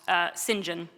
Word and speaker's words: St. John: Well, Slim Jim is what a group of my students started calling Sinjin, which is, it's spelled St. John, but the British do what they do, and somehow that's pronounced Sinjin.